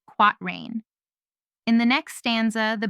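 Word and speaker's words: quatrain: This kind of rhyming pair is called a quat rain rhyme when it occurs in four lines pronounced quat rain.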